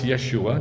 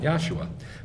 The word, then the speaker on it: Yeshua: This is why it's Yeshua, not Yah-shua.